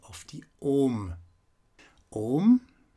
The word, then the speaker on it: Om: pronunciation of the Om, it's pronounced like this. Om. Om. It doesn't matter if you are keeping on a level, like I just pronounced it, or if you go up after the O, like Om. Om.